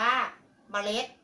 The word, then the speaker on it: เมล็ด: หน้า พระ ตี 5 มี เมล็ด อ่าน ว่า เมล็ด ประ จะ ออก เสียง มะ อะ 1 เสียง